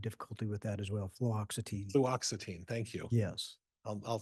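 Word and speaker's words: fluoxetine: flutin I have difficulty with that as well fluoxitine fluoxitine thank you yes I'll say it wrong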